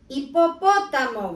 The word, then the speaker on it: hipopótamo: Hippopotamo with the silent H again.